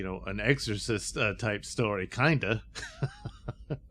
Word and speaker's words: Kinda: an exorcist type story kinda although pronounced kinder uh which plays on